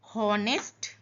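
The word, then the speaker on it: honest: हॉनेस्ट यहां पे H silent है।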